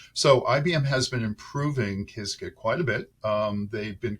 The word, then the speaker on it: Qiskit: IBM Qiskit, that's Qiskit, and it's pronounced different ways. I pronounce it Qiskit. Some people pronounce it Qiskit, whatever it is.